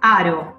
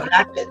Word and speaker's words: Haro: Claudia Vázquez, Aro, se pronuncia así, ¿no? No con A, con A. Sí, sí. Claudia Vázquez. Aro, la H es muda.